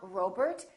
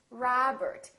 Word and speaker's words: Robert: with the letter O make sure that you don't say oh it's not Robert it's Robert it's not McDonald its McDonald alright let's practice repeat